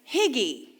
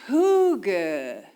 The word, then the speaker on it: hygge: So when you see that word, it sounds like higgy, right? It sounds like it should be pronounced higgy.